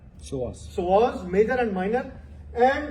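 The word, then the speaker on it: psoas: Another muscle here we have so P is silent. So SAS it is P SAS but we called it as SOAS.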